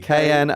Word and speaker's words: Knoyle: Because Noyle has a silent K at the beginning. Oh, really? Knoyle.